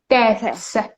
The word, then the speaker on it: deaths: Do you remember that when th is pronounced like th, and there is the word, there is some sound s right after it, we pronounce th like t. Deaths.